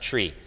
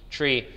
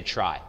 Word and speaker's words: trie: he invented it so he says it's pronounced tree from retrieval a lot of times especially if you like functional programming you'll hear people in order to differentiate it from TR EE tree people will say try